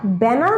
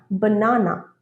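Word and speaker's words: banana: পরেরটা ব্যানানা নয়, বানানা, বানানা।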